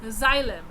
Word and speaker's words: xylem: I will pronounce it for you. XYLEM, xylem.